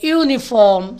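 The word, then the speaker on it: uniform: பாருங்க பிராக்கெட்ல என்ன கொடுத்திருக்கோம் sounds like R எ யூனிபார்ம் sounds like y யூ இந்த இடத்துல யூனிபார்ம் என்பது யூ பிரர் எஸ் டி அந்த உச்சரிப்பு வரல y யூ என்ற உச்சரிப்பு வர்றதுனாலதான் எப்படி உச்சரிக்கணும்னு கேட்டீங்கன்னா எ யூனிபார்ம் எ யூனிபார்ம் எ யூனிவர்சிட்டி எ யூனிட் அப்போ ஒய் யூ முன்னாடி வச்சு உச்சரிக்கிறோம் ஆகையினால y என்பது consonant sound so வி யூஸ் ஏ instead half an இப்ப டே ஒன் ல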